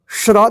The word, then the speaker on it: श्र: बाराखरी आपको बता देते देखिए य श्र देखिए तल श के जैसा इसका उच्चारण होता है श्र श्रा श्री श्री